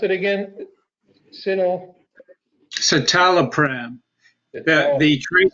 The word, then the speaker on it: citalopram: long term all right and how do you pronounce it again you know citalopram that name is the celexa okay I agree